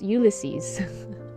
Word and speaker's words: Ulysses: Ah, by the way, I found out that I did pronounce his name wrong. It's Ulysses.